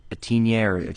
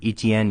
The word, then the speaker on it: Etienne: um they contain trevor lawrence and uh travis etinier etienne yeah etn sorry i butchered his name but that's a really good